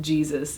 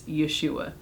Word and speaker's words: Yeshua: of the bible because it's not jesus it's yeshua so it's not it's